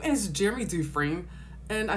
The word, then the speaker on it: Dufrene: little bit all right his name is Jeremy duine and I say it's dine because that's how it's pronounced I know because I am from Louisiana